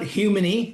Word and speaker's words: Humony: I call it human, like human with a Y.